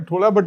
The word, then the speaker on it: थोला: ठीक है, थोला, हम इसे थोला ही कहते हैं, लेकिन हाँ , इसकी स्पेलिंग T-H-O-L-A है।